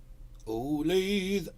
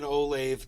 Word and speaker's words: Olathe: Reverend's in Olathe, Colorado. I'm in Orlando, Florida. And pronounced the same as Olathe, Kansas.